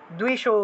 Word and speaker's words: দ্বিষো: জয়ম দেহি যশো দেহি দ্বিষো জহি, ঠিক আছে, দয়ের নিচে বফলা থাকলে দুও উচ্চারণ হলো, আর এই যে দয়